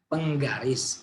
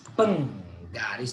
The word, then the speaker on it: Penggaris: Penggaris. Penggaris. There are 3 syllables here.